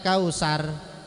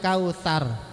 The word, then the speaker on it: kautsar: Banyak orang yang kalau baca ini kal kausar, kalau dia sar berarti dia sin kecil. Sementara di situ itu sa, maka bacanya inna a'taina kal kautsar. Lidahnya ngejulur sedikit, kegigit di dalam gigi.